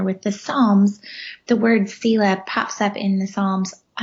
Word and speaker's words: Selah: And so I wrote this book called Finding Selah That's the way I say it.